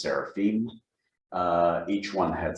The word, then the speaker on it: seraphim: temple, and above it stood seraphim, or should be pronounced seraphim.